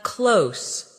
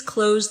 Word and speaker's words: close: As an adjective, close means near, like The store is close to my house. The two meanings sound different. The verb rhymes with rose, while the adjective rhymes with dose.